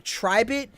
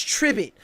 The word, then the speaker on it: Tribit: Because I was saying Tribit, but it's Tribit, like Ribbit.